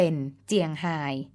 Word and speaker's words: เชียงราย: ล้าน นา เช่น เชียงใหม่ เป็น เชียงใหม่ เชียงราย เป็น เจียงฮาย ชาว บ้าน เป็น เจ้า บ้าน เป็น ต้น ค่ะ